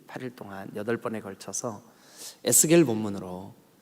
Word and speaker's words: 에스겔: 말씀을 드리겠지만 2s 개리 라고 하는 이름 e 에스겔 이라고 발음합니다 히피 말이 예측 1 예수께 에스겔 이라고